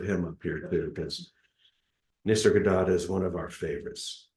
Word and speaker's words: Nisargadatta: Nisargadatta. That's it. Nisargadatta Maharaj. One of my One of these days we're going to put a little picture of him up here, too, because Nisargadatta is one of our favorites.